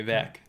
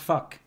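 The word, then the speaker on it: vak: You know, okay, let me, you know, in Afrikaans, subject is V-A-K, okay? V-A-K, vac. No, but it's pronounced fuck. Fuck.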